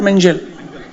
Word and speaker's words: Mengele: How is it pronounced? Mengele or Mengele? Mengele is correct.